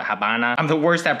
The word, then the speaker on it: Habana: Havana, it's like, I guess the locals call it Havana.